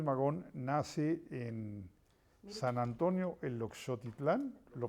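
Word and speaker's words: Eloxochitlán: A ver, digámosle a quienes nos están viendo que Ricardo Flores Magón nace en San Antonio, el Oxotitlán, lo pronuncié bien, Oaxaca, Perfecto.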